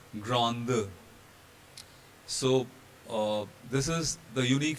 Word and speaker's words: grande: And because of this presence of E at the end of the word, this D here will be voiced and it will be pronounced as grande.